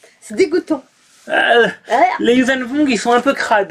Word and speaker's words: Yuuzhan Vong: Pourquoi tu mets l'accent en façon Wong? Tu mélanges V et Wong. Vong. Vong. Comme avec un V.